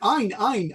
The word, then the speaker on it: Ein: no, not An, not An. Ein. Ein is pronounced differently.